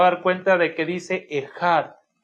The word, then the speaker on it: Ejad: Normalmente cuando la transliteramos con una K y una H. Al momento de hacer la pronunciación, la H se pronuncia como una J y normalmente la K o la C no se pronuncia, así que se pronuncia Ejad.